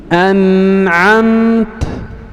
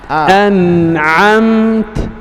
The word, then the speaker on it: أنعمت: Nah, العين لاحظ الأمثلة، اسمع مني: أنعمت أنعمت أنعمت أنعمت. لا تقول أنعمت. أنعمت.